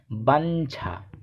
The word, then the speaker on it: বাঞ্ছা: উদাহরণ হিসেবে বলতে পারি বাঞ্ছা, ব আকার ইয় ছয় যুক্ত আকার বাঞ্ছা, এর সঠিক উচ্চারণ হবে বাঞ্ছা। এরপরে ইয় বর্গীয় জয় যুক্ত, ইয়র সাথে বর্গীয় জ যুক্ত হয়ে ইয় জয় যুক্ত গঠিত হয়।